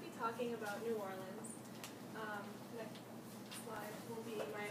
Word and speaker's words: New Orleans: Okay, so first of all, the pronunciation of the city, it's New Orleans, not New Orleans, which I think a lot of people I didn't know how to say before I went.